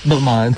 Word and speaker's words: Balmain: Balmain ba yung pronunciation? Oo, Balmain.